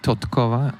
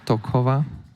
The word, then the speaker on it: Totkova: There should be Totkova, not Tokova.